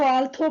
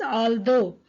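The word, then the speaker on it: although: आल्दो नजर आता है, कुछ बच्चे इसको आल्थो पढ़ते हैं, the word is नॉट आल्थो, इट is actually pronounced as आल्दो।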